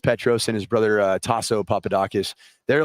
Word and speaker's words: Papadakis: but your your friend Petro Papados uh they he jumped in we got work on your Greek pronunciation how how is it Petros Papadakis Papadakis okay yeah you know him